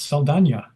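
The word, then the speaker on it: Saldaña: I didn't know that her last name was correctly pronounced Saldana.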